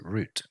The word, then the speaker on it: route: the buses take um in American English I think it's usually pronounced route but in British English we pronounce it root okay so let's move